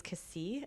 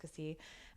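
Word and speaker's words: Cassis: The other one I would say this is actually kind of touristy is Cassie. It's it's spelled C A S S I S but it's pronounced Cassie.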